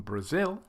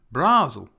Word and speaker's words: Brazil: to the first syllable we will change from Brazil to brasil' brasil' I think it's funny isn't